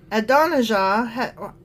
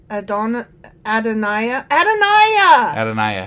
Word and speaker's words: Adonijah: Adonijah I keep saying his name wrong because the J is a Y. Adoniah. That's probably what it is.